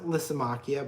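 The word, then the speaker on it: Lysimachia: I will say that lysomachia will pronounce it lisimachia but I say lysomachia Lysa machia even though it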